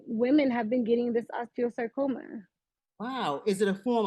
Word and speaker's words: osteosarcoma: uh Rihanna has Osteo tell me if I pronounced this correctly osteosarcoma am I correct yes very true very correct